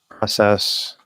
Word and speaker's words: process: Process. I think. Process. Yeah, the dictionary is only listing one pronunciation for process, regardless if it's a noun or a verb. Unless it's British, in which case a process.